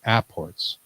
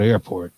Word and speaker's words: apport: that he talks about Apports. We always say it wrong. It's not airport. No, It's Apport.